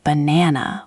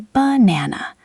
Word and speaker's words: banana: Take the word banana. You don't say banana with equal weight on everything. You say banana. Those little ba and na sounds are weak, light, thrown away almost.